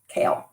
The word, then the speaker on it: Kael: L some people pronounce it differently but I pronounced it as Cael um he knows gralen our guardian angel from